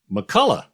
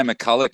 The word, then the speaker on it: McCullough: McCullough, of course. Who McCullough, would get that wrong? Exactly. Who would get that wrong? People say McCulloch all the time. Oh. Which is wrong.